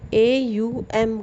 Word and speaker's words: ओम: तो AUM करके इसका मंत्र होता है, ठीक है। लिखा ओम जाता है, बड़ा ओ की मात्रा ऊपर चंद्र बिंदु करके लिखा जाता है ना फ्रेंड्स।